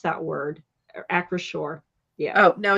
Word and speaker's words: Acrisure: Like I can't pronounce that word. Acrisure.